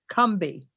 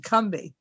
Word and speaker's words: Combahee: years come to know is pronounced correctly as Combahee, as if it has two syllables and no O. See, it's pronounced as if it spells C-U-M or K-U-M-B-E-E, Combahee.